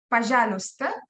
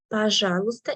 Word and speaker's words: пожалуйста: Пожалуйста is please. Да? Пожалуйста. In the word пожалуйста, letter пожалуйста. Y is silent. We do not read it.